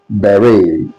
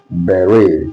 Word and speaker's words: beret: The second one is uh is pronounced as beret. What did I say? Beret.